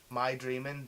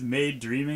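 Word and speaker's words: Maidreamin: it's spelled m-a-i-otaku and this made cafe spell m-a-i dreaming like my dreaming but really it is made dreaming because it's a play on the word made yep exactly so you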